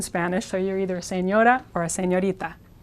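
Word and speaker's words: señora: means ma'am or M now think of this first syllable sin I'll rewrite it like this just for fun sane as in not crazy and the second syllable like the character from Star Wars Yoda s Yoda s Yoda s Yoda it's not perfect but it gets you very very close to the Spanish R let's look at a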